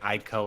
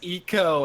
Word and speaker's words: Ico: how much I got for pronouncing it ICO originally everybody's like oh it's eco as if that's the one thing they should